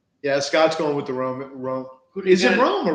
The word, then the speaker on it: Rome: No, I think he was saying it's pronounced Rome.